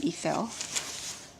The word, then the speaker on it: Ithell: I think you pronounce her first name Ithell.